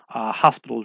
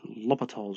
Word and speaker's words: L'Hopital's: different spellings of l'hopital's one of them actually says hospitals but it's not pronounced hospitals rule its l'hopital's rule so love Lethal's